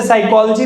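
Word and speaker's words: psychology: जैसे साइकोलॉजी में P silent होता है।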